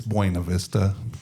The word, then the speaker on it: Buena Vista: It's Buena Vista. Okay, Because okay. that's how it's pronounced.